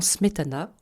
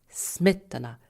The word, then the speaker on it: Smetana: Le premier de ces deux accents est un accent d'intensité, qui affecte la première syllabe du mot ou groupe de mots. Voici comment Smetana, qu'on considère volontiers comme le père de la